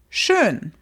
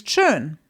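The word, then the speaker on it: schön: In German, it's shun. So I could be saying something like the weather is nice. That would be in German is churn.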